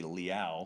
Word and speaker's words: Leal: I thought that I was pronouncing Leal's name right the whole time, but it's apparently Leal, so they recruited him straight from France.